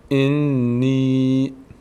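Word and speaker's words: إِنِّي: کسره زیر ان نی چرا نی ان نگفتیم نی چون بعد از کسره یا اومده این یا بعد از کسره قرار گرفته و هر وقت بعد از کسره حرف یا قرار گرفت اون موقع صدای ای می‌گیره اون حرفی که کسره داره صدای ای می‌گیره صدای ا نمی‌گیره میشه صدای ای می‌گیره به خاطر یایی که بعدش اومده اینجا میشه چی میشه انی انی انی انی زیاد نمی‌کشیم انی انی انی انی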